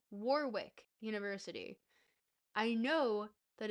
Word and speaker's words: Warwick: There's no Warick. It's Warwick. You pronounce both W's.